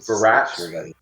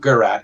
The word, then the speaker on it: Virat: So Virat? Not Garat, it's Virat.